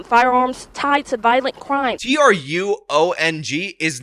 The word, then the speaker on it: Truong: I don't know who told this man, who told his family that a Y could be replaced by a TR, but TR equals Tra. This man should be pronounced Truong, and I think honestly